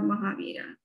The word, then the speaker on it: Mahavir: And I did hear you mention, how do you pronounce it? Is it Mahavira?